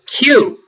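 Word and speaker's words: Kew: to the Botanic Gardens at Q which is spelled k w is a great place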